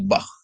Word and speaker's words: Bach: Untuk aksara head seperti Anda melafalkan nama musisi klasik Bach ya, yang diucapkan bah dengan tekanan h di tenggorokan, bukan diucapkan bak, bak ya, tapi bah.